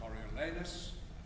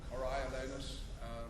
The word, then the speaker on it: Coriolanus: And I was extremely lucky to be in a production of Coriolanus, or Coriolanus, pronounce it as you were, playing Tullus of Phidias.